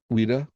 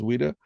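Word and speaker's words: Ouida: or whatever and or Wida that would be a great example from the 19th century we don't right o-u-i-d-a I think that's how you pronounce it as Wida but this is by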